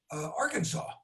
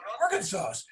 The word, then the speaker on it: Arkansas: And you told him, because Bill Clinton used to be the governor of Arkansas.